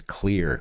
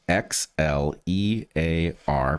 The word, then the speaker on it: Xlear: It's Xlear. That's Xlear, pronounced clear.